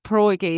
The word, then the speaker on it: pierogi: Oh, I love the pierogi.